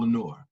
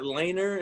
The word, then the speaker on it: Lenore: brand uh it's called lenore uh it's i don't know thank you for pronouncing that right by the way man there's a lot of people that's just oh is that laner and i'm just like